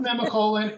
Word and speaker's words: Nemacolin: pronounced Nemacolin, and it is simply amazing.